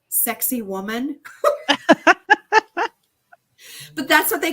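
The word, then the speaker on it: Sacsayhuamán: say this wrong but the way they used they were pronouncing it was um the stones of sexy woman but that's what they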